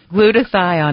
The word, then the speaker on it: glutathione: in your body glutathione doctor what is GL glutathione am I pronouncing it right oh that's exactly okay good